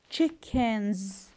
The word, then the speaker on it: chickens: Chickens, chickens, I pronounce the S here with Z, chickens, okay?